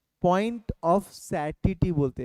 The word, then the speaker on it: satiety: Point of सैटिटी बोलते हैं।